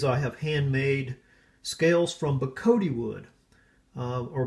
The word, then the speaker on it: bocote: Etsy shop these I have handmade scales from bakoto wood or but coat this is an exotic hardwood from Central America mainly Mexico I believe and so the Spanish pronunciation is BA Cote and it's again it's just an exotic card